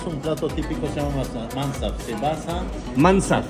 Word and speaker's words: mansaf: Esto es un plato típico, se llama mansaf. Se basa... ¿Mansaf? Mansaf. ¿Se escribe cómo?